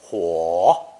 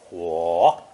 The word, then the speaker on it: 火: This lesson contains 6 characters, 5 of which are based on the character for fire, pronounced third tone, huo, huo.